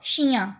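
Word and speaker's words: chou: have okay so शरण यू कैन ट्राई to pronounce उन connect कर दो इट विल बी श तु सही बोल रहे हो मतलब तु उ अलग अलग बोल रहे हो बने जोड़ के बोलना शू मीस कैबेज देन सो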